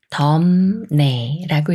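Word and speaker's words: 덥네: 만났으니까 비읍 받침이 미음 받침 소리인 음이 되면서 덤 네라고 읽어요 덤에 덤에이 말은 엇 내가 맞을까요 아니면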